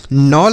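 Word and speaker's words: kneel: नोल पढ़ेंगे नोल मतलब क्या होता है समझिए नोल का अर्थ होता है टीला क्या होता है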